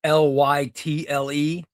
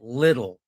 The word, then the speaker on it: Lytle: wasn't in the picture, his last name was Lytle, and it's Lytle. So my last name is Lytle, which is Scottish. And but the guy who was announcing the graduation last night, he pronounced it Little.